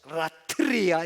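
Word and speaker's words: λατρεία: 원문에 사용된 단어는 로기코스 라트리아 이렇게 돼 있습니다. 로기코스 라트리아이 발음 되게 어렵다.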